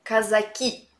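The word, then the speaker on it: казаки: è sotto al video i cosacchi è in russo si pronunci come casa chi traslitterato come casa chi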